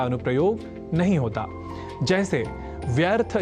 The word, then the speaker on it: व्यर्थ: है इस सिद्धांत का अनुप्रयोग नहीं होता जैसे व्यर्थ या व्यर्थ और वैयम आदि शब्दों को व्यर्थ